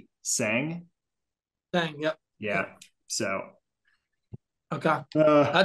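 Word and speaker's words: Tseng: have he has uh his last name is spelled t-s-e-n-g-g sang yep yeah so okay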